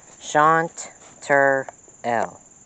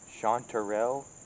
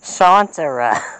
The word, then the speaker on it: chanterelle: explain to the viewers how you say that shantur l chanterelle yes clearly someone has problems with english shawn trio chanterelle chanterelle montreal isn't that a city in canada